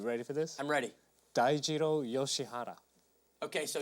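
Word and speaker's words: Dai Yoshihara: his name you ready for this I'm ready Dao yoshihara okay so D he had some good showings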